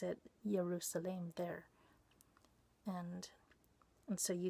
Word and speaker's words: Yerushalaim: So he pronounces it Yerushalaim there.